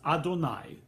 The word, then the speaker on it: Adonai: Now, the way that name is pronounced is Adonai, that name.